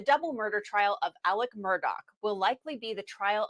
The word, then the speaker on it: Murdaugh: See, Law and Crime's calling him Murdaugh, But everyone I've heard, including the judge and everything, is Murdaugh, and it's spelled Murdaugh, so we're calling him Murdaugh.